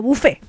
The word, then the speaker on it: buffet: Hay que decir que, claro, que viene del francés buffet, es W-F-E-T, y se pronuncia como buffet.